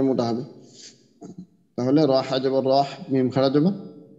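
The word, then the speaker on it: الرحيم: টা মোটা হবে র এর যে দুইটা দুইটা উচ্চারণ দুইটা মোটা হবে তাহলে রহ জবর রহ মিম খারা জবর মা নুন রাজের নীর তাহলে বিসমিল্লাহির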